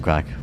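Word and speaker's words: craic: And then, of course, how is the crack? Yeah. Which is not what some people think it is. It's an Irish expression. It's spelled C-R-A-I-C, and it's an expression we use in Ireland for having fun.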